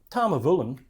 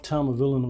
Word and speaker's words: Tamnavulin: I mean, Tamnavulin, it doesn't have the big name of Macallan, Glenfiddich, Glenlivet.